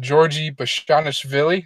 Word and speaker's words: Bashanishvili: So first, we got Georgie Bashanishvili. Is that how you say it? Oh yeah, yeah, you hit it.